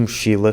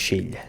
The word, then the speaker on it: mochila: chosen for that, because in both accents, especially Madeira, the letter L - the sound L - is replaced by the sound LH when it comes after an I and before a vowel. Quilo (Kilo) becomes “quilho”, elástica (elastic) becomes “elhástica” and mochila (backpack) becomes “mochilha”. The third sentence is: "The